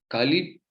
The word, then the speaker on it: Kali: confundam com a deusa Kali. Aqui, Kali tem uma outra pronúncia que é com o A fechado, né?